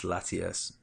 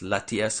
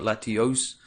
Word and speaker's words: Latias: definitely my most favorite is Latias that's Latias that's the red one it's not Latios it's kind of hard